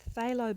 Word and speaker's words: phthalo: the cool blue and phthalo blue with the silent p is the warm blue